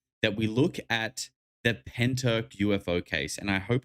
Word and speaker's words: Pentyrch: But I do believe it is Pentyrch is how it's said. Um naturally I want to say Pentyrch, but I don't think that's correct. I don't think that's correct at all.